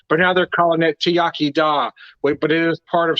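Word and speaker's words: iechyd da: I will so there's great products so it's pronounced tiak da but it has so it's so it's about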